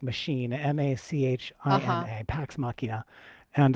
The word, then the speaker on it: Pax Machina: It's called Pax Machina. It's spelled P like Paul, AX, Machina like machine, Uh-huh. Machina, Pax Machina.